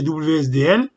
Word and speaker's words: WSDL: qui comme extension wsdl on le prononce oui ce deal mais on peut le prononcer wsdl ça signifie en anglais